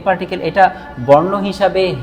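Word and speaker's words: へ: আচ্ছা, পঞ্চম লেসনে আমরা বর্ণ হিসাবে এটা প্রথম যেই পার্টিকেলটা নিচ্ছি, এটা বর্ণ হিসাবে হলো হে বর্ণ, কিন্তু এটা যখন পার্টিকেল হিসাবে আসবে তখন এটার উচ্চারণ হয়ে যাবে এ।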